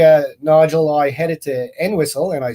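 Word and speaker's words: Entwistle: and uh yesterday uh Nigel I headed to en whistle and I said it right because a townsperson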